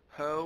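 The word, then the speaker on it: H₀: In the previous one we did before, they're goodness to fit, we said hoe was there is um the or our sample is correctly distributed for ho. It rhymes with no.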